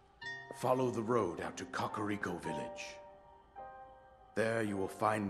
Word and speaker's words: Kakariko: So apparently it's pronounced Kakariko.